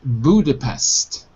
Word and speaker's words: Budapest: In English, we pronounce it Budapest.